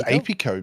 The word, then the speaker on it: Apico: you say it uh i think it's apico because um when you're talking about bees it's apiculture and apiary wow so ap co kind of makes sense to me i'm not gonna claim